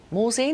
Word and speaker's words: Morzine: travel company called simply morsine morzine is that right how you say it that's correct victoria yes simply morsine so what